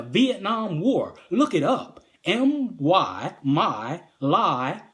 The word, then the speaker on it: My Lai: The My Lai massacre, MYLAI massacre, is an offshoot from the Vietnam War. Look it up. My lie, because they do lie, but that's not how it's spelled.